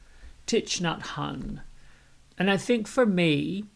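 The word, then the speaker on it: Thich Nhat Hanh: i kept messing up so here it is titch nut hun and i think for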